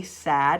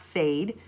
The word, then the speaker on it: sad: renowned sad here it's got a short a sad it's not Sade it's sad ok so because it